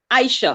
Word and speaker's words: Isha: you come back oh I normally pronounce my name Aisha yeah so you'll have